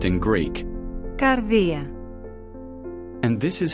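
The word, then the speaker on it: καρδία: The Greek word pronounced as Κардία is the translation of a Hebrew word found in the Old Testament pronounced as LEV.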